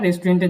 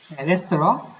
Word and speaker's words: Restaurant: গেজু, তারপরে কি একটা রেস্টুরেন্টে দেখলাম যে কিনা কি করতেছে, একটা রাঁধুনি খুঁজতেছে। Restaurant. রেস্তোরাঁ আবার রেস্টুরেন্ট দুটাই উচ্চারণ করতে পারেন।